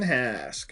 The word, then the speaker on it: Hask: that's it get rid of the HK Gideon Hask I got to remember that's how it's pronounced I don't remember how it's pronounced in